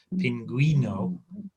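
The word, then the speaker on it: pingüino: So when it has the two dots over the top, you have to pronounce the U. Otherwise, don't bother, just leave it out. So ciguena and pinguino, we need to pronounce the U.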